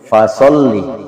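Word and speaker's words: فَصَلِّ: Ya, F tapi disertai dengan nafas. Yaitu bibir bawah ketemu dengan gigi atas. Ya. Bibir bawah, gigi atas. Fa. Ya. Biasa orang bibir-bibir. Salah kalau bibir-bibir. Yang betul adalah gigi bibir, gigi atas, bibir bawah. Fa. Ya, fa. Ya. Ya. Fasolli. Ya. Jadi bukan fasolli ya. Fasolli. Yang betul itu adalah fasolli li rabbika wanhar. Ya. Yang betul adalah seperti itu. Ya.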